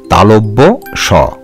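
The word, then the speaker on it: তালব্য শ: এই বর্ণটিকেও আমরা অনেক সময় ভুল উচ্চারণ করি, তোমরা সঠিকভাবে উচ্চারণ করবে তালব্য স।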